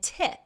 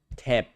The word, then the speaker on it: tip: You're really trying to pronounce that ng in tongue and the p in tip. An American wouldn't really put that much effort into pronouncing the ng at the end of tongue or the p at the end of tip.